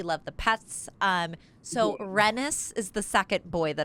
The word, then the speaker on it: Renis: So it's like Dennis but with an R.